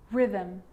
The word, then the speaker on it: rhythm: a g ghost ghost and with an r rhythm or rhyme good news